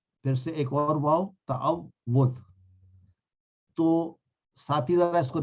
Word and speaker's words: تعوذ: ہے وہ صحیح ہو۔ تو اس کو یوں یاد کیجئے کہ اس کو پڑھنے کے لیے تا زبر تا آ، واو پہ چونکہ شد ہے اس پہ جزم ڈال لیں، تعو، پھر سے